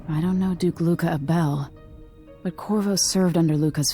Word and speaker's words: Abele: Meeting with Duke Luca Abele, potentially? I don't know Duke Luca Abel, but Corvo served under Luca's father and said Theodanes was a good man. Okay, apparently that name is pronounced Abel.